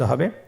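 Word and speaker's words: ح: হা হরফটি কিভাবে উচ্চারিত হবে? হা হরফটি উচ্চারিত হবে কণ্ঠনালীর মধ্যখান হতে।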